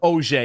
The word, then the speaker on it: Auger: Is that how you say it? I just Googled it. So Auger, yeah. Auger. That's not. There that's you go. 100%. 100%. It's 100% who that was.